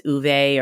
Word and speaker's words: Ove: and a man called ove I know it's uve or I'm not sure exactly how you say it in Swedish so I just always end up saying a man called o by Frederick Bachmann are